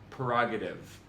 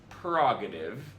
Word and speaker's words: prerogative: Next one, prerogative. If you're anything like me, this one will blow your mind. It's not prerogative, as so aptly captured by Britney Spears. It's prerogative, like precognition.